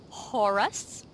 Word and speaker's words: Horus: faq what do I I heard you pronounce it as the horse heresy oh no no horus heresy I just I